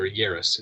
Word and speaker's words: Yaris: had the mo five yaris or yaris in sierras here it's like paris uh and i was